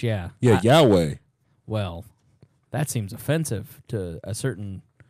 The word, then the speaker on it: Yahweh: Yeah, no, Yahweh, the cell phone. Huai or whatever. It's with an H, yeah. Yeah, Yahweh. Well, that seems offensive to a certain segment of our population. It's pronounced Yahweh.